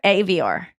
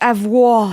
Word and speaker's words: Avior: I still get nervous when I pronounce her last name. Avior. Avior. God, Oh, I thought it was avoir. I can't. It should be because it's almost like the French verb avoir.